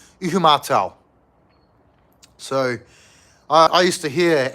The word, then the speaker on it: Ihumatao: To the honky locals, we called it Ishimada. But the correct pronunciation is Ihumatao.